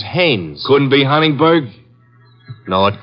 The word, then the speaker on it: Haines: he's a fellow named Heinz used to fish no not Heinz Haynes couldn't be hummingbird now